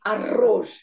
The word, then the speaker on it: arroz: So for these, when there is a double R, you have to roll your tongue. So you say arroz.